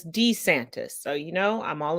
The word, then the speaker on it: DeSantis: of Ron I'm sorry we all say to Santas but he himself says D santis so you know I'm